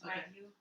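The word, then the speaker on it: wagyu: And he's like, "Was wagu wagoo steak?" Yeah. Wagu. How do you say it? I think you can say it either way. It's wagu. Wagu. Wagu. Wagu. Oh wow.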